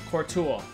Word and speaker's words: Courtois: So, yo, Courtois, right?